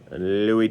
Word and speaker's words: Louis: Louis Tiant. Tiant, it's pronounced, in case you're not sure.